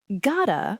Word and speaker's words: gotta: Gotta becomes gotta. I have got to go becomes I gotta go. The two T sounds merge into a soft, fast D sound, gotta.